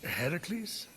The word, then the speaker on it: Heracles: thing with your voice Heracles yeah that that is how it's supposed to be pronounced seems like a lot